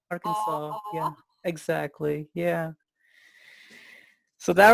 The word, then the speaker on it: Arkansas: not very fair because Arkansas is not an English word. Huh. It's a Quapaw Indian word. Is that right? Yeah. Okay. So if you can remember that it's from the Quapaws, Arkansas. Arkansas.